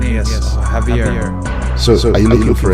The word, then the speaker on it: Javier: J yeah yeah but the J is silent we pronounce it heavier instead of so instead